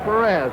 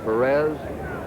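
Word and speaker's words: Pérez: of that cincinnati lineup we anglicize his name it's the way they call it in cincinnati his hometown and most of the announcers perez perez is the spanish pronunciation and we get some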